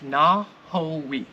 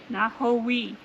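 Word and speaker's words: Nojoqui: It's Nahowi. Nahowi. And I don't think anybody would ever get that, because it's a no, not a na. And the J is silent and the Q is silent.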